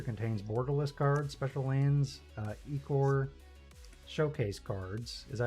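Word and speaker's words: ichor: Each booster contains borderless cards, special lands, Ecor showcase cards. Is that how you pronounce it? Ecor or Icor? Icker. Icker, okay.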